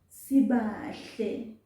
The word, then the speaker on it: Sibahle: Sibahle, sibahle, sibahle. Although spoken language, this is how we say the name. Sibahle, without pronouncing that I. Sibahle.